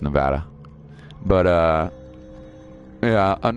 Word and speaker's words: Nevada: and by the way that's pronounced Nevada not Nevada anybody who ever if you ever hear somebody say I'm moving to Nevada it's totally bull crap that's not how it's pronounced by locals mm-hmm at all just so you know it's pronounced Nevada but uh yeah I'm